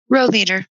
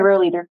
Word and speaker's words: Rohleder: other presenter is how do you say your last name row leader okay row leader at least we're a